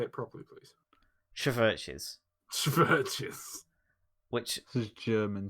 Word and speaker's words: CHVRCHES: CHVRCHES.